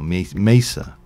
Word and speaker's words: mesa: So beautiful, not beautiful mesa though, or mesa, if you wish me to pronounce it correctly.